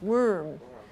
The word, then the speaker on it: worm: uh this one here may not look like it sounds like that but that's that little thing that is wandering around right worm worm so don't look at how it is spelled remember oh no it's worm and only the color you